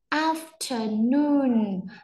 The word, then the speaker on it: afternoon: After, Afternoon, trọng âm nhấn vào âm này và trọng âm nhấn vào âm này. Cái này mọi người nhớ là gì không ạ? Là trọng âm phụ, cho nên là chúng mình sẽ đọc có nhấn mạnh ở hai âm này, âm giữa thì nó không được nhấn mạnh thôi ạ.